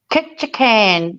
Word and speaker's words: Ketchikan: Ketchikan for the week.